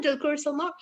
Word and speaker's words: Dulquer Salmaan: But every single time we post about our wonderful DQ, Dulquer Salmaan. Is that right? Is that how you say it? That's right, Dulquer Salmaan.